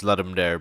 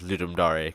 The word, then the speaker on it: Ludum Dare: that shut up I know I used to pronounce it as Lumar but apparently it's pronounced as ludar cuz it's Latin I decided to make another